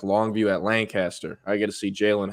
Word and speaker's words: Lancaster: Lancaster Lancaster in Dallas it's spelled Lancaster that's how it should be said um but everyone up there says lanaster I don't know why but it's Lancaster um so yeah I